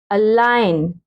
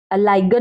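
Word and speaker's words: align: Silent letter जी, एन से पहले आया जी हमेशा साइलेंट होता है, ठीक है। जैसे ए एल आई जी एन, एन से पहले क्या है, जी है। अलाइन, अलाइगन नहीं, कुछ बच्चे पढ़ेंगे अलाइगन, नो।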